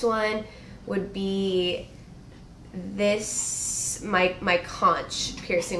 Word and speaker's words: conch: Moving on to my next one would be this, my conch piercing, which I always want to call conch because it's spelled like that.